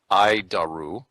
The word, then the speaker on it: ADIRU: data initial reference unit we pronounce it I daru is the standard in